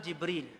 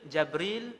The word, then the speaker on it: Jibril: Malaikat Jibril jawab, ana Jibril. Jibril, Jabril, Jibrail, Jibrail. 4 cara baca. Semua sahih.